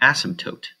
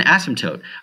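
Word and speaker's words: asymptote: as what's called an ASM toote an ASM ASM toote I'm pronouncing the P but you don't really actually pronounce it it's an ASM toote um an as go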